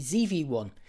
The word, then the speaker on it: ZV-1: about the Sony ZV-1, or if you live in the USA, the Sony ZV-1. ZV rhymes with TV, that actually sounds a bit better, doesn't it? But I'm sticking with ZV-1 here because I'm British.